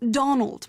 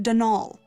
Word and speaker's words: Donal: the caretaker dnal Delaney not Donald mind you there's no D at the end so it's pronounced dnal that's the way you're